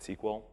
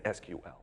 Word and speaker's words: SQL: virtual SQL database and I will never pronounce it sequel sorry if anyone thinks I'm wrong its SQL these 229 tables have